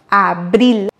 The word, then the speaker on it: abril: Comme vous avez bien compris, on va prononcer ici le R simple car il est au milieu du mot. Avril. Et ensuite, on va accentuer sur le I. Abril.